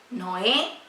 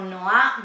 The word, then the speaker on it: Noá: Noé, comúnmente conocido, pero Noá bien pronunciado allí en hebreo.